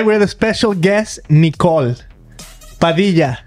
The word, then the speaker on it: Padilla: Today we're the special guest, Nicole Padilla. Padilla. You pronounce it pretty well.